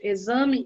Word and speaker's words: exame: X com som de Z, que é o exemplo das palavras exame e exagerado. Soa-se o Z, mas escreve-se com X.